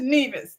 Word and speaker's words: Nevis: has to come over and tell over to Nevis.